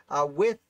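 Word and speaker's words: Wythe: haven't typed it yet with is not pronounced white as i've learned klingon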